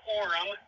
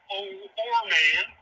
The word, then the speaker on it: Orem: Yep, it's pronounced Orem, not Orman.